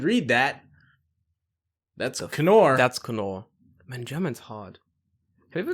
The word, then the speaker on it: Knorr: Is it Knorr or Knorr, David? It's definitely Knorr.